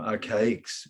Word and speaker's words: Arcaix: on his show, Syncretism Society, that Jason from Archaics, which is spelled ARCAIX.